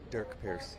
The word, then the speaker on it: Dirk Pierce: Dirk Pierce. And how do you spell that?